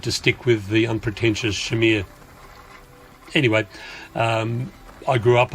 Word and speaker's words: Chimere: dream and when we've met frenchotties they've immediately pronounced it as Shimmer or Shamir and I've heard other pronunciations but we've tended to stick with the unpretentious Shamir anyway um I grew up on boats on